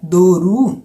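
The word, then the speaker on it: doğru: ir errado duro correto essa palavra duru se escreve do og que tem aquele a sentir em cima que é que ele não é pronunciado e nenhuma palavra mas dá uma sensação de prolongamento da palavra então duro Ok correto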